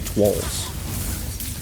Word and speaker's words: Twolzz: I don't know why I skip over the. I like a silent W in the name for some reason. I think it's supposed to be Twolzz.